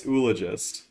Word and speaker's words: oologist: at the pronunciations yeah you you always say oologist but then again so does flan so does winging it and so does t they all say oologist I say oologist yeah it's ologist IG yeah that's it that's how you pronounce that for anyone who's curious